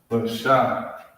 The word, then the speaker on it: Lashawan: I believe it's Lashawan. I believe. We'll see right now. 9. Number 9. It's Lashawan. Alright, that's how it's pronounced, that's how it's spelled.